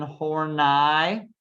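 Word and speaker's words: Horney: new freudians like young and adler and karen hornai make sure you pronounce her name properly um how adler when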